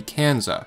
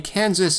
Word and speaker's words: Kansas: Kansas is named after the Kansa, which means the people of the wind. Interestingly, Kansas isn't pronounced Kansa because the name came from English speakers.